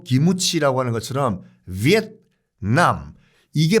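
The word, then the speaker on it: Việt Nam: 받고 있는 나라도 없습니다 일단은 발음 자체가 베트남이 아니에요 원래 정식 부부는 위엔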